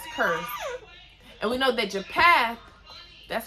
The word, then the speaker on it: Japheth: And we know that Japheth, that's how you pronounce it, him and his kids, it said that they were the owl of the Gentiles.